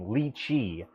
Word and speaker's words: Lychee: can use lychee slicer yes that is how you say that name lychee just like the i think it's a plant in japan um anyway um we've